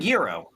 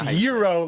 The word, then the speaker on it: gyro: Are you pronouncing a hard G? Yeah, I'm saying yurro. No, I think it's yuro. Like a y like a year. Like a silent like hero.